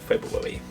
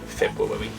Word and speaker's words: February: February. You have to say it like that so you can spell that. February.